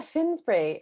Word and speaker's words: Finsbury: i pronounce it correctly yeah finnsbury is how i say it and it makes me laugh because mark really eeks out my our teacher mark england he goes finsbury like that yes that